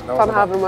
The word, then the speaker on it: Vanhaevermaet: Vanhaevermaet.